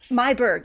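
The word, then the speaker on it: Meiburg: Am I pronouncing her last name correctly, by the Mberg. Mayberg. Thank you.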